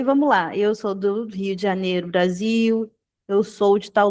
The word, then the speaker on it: Rio de Janeiro: Não tá errado você usar sua pronúncia de Rio de Janeiro, tá? Mas geralmente o pessoal vai ficar rio, rio. Aí sai real de Janeiro, o o nativo de inglês fala mais assim.